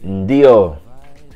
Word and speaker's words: ndio: To say yes, you say ndio. Ndio. Ndio. There's a lot of n and in all the words, so you want to pronounce it right.